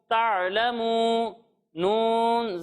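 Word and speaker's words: تعلمون: ता आइन ज़बर ता, लाम ज़बर ला, ता'ला, मीम वाव पेश मू, ता'लमू, नून ज़बर ना, ता'लमूना।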